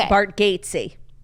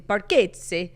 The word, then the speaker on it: Bargatze: SNL plane skit, Nate Bargatze. Who's Nate Bargatze? Such a good question. That's definitely not how you pronounce his last name.